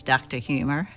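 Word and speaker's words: Drhumor: Well, some of the exhibits that we were showing off were art into themselves, like the Drumore building. that everybody pronounces Dr. Humor.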